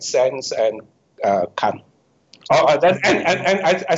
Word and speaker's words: Kant: ago, philosophers like Kant, K-A-N-T, Kant. You pronounce Kant or Kant? Kant.